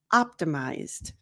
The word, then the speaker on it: optimized: want for you now the third and last way that you can pronounce the Eed D for the simple past in English is D just going to sound like a d so there's no uh